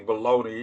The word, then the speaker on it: Bologna: It's actually Bologna. It's spelled, but no, we can't call it Bologna, right?